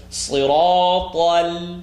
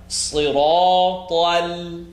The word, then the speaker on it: صراط: Listen to siratal. You know that lam is not heavy. So it's صراط, smile. صراط, now from your smile, pucker your lips. مستقيم. اهدنا الصراط المستقيم. مستقيم. اهدنا الصراط المستقيم. Don't make the ta heavy.